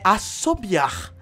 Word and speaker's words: assobiar: Ó, se você conseguiu assoviar também, é assobiar. O jeito certo de falar. Na verdade, se escreve assobiar, mas eu falo assoviar.